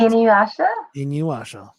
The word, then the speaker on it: Inuyasha: How much you love in see, now this is when I forget how to pronounce things. Inuyasha.